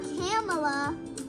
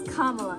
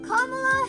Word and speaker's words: Kamala: you really pronounce cela's name I know I'm pronouncing it wrong I know I am I know I am it's not camela it's not Camala it's not camela it's kamla kamla Harris so there you go it's kamla Kamala